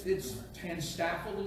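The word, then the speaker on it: TANSTAAFL: It's TANSTAFL is the way it's pronounced.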